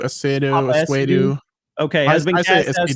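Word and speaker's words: Essiedu: It's Papa Esidu, Esidu.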